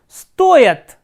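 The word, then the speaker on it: стоят: stoich is conjugated as stoyat. So, here stress is on O, that is why this ya has been reduced, stoyat, stayat and stoyat.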